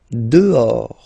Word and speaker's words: dehors: Dehors. Okay, so remember, final S not pronounced, and then this H in French doesn't exist phonetically, so you don't pronounce it.